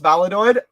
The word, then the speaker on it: Valladolid: Like the other day, before his goal against the win against Valladolid.